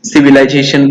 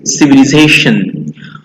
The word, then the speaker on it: civilization: सिव्हिलायझेशन पण म्हणतात याला, but the correct pronunciation is civilization.